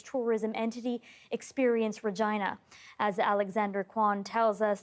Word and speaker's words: Regina: that capitalize on how the city's name rhymes with vagina a phrase that the Rolling Stones used when they visited the city in 2006. someone told me you know Regina just it rhymes with